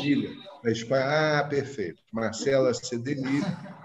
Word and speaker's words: Cedenilla: É, a Cedenilha, porque é espanhol. Sedenilha.